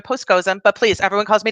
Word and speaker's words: Poskozim: v is in victoria p is in postscosim that's how you say my name dr postcozum but please everyone calls